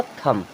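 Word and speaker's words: thumb: तो THUM, ये क्या हो जाएगा, थम।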